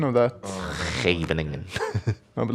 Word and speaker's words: Scheveningen: This is the, I can't pronounce it, Scheveningen system as black, where you just put pawns on the 6th rank, and you allow white onto you.